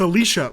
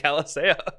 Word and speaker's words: Alicia: go get therapy yeah it's Alicia like Alicia Keys like it's literally the exact same spelling it's just Alicia yeah I know some people pronounce it like Alisa get help if you pronounce it that way I think it's a